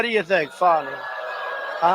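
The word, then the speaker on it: Fani: f do you think fonnie huh F A ni I that's pronounced Fanny but you're not allowed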